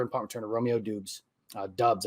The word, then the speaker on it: Doubs: Doubs, I think, is actually how you pronounce that name.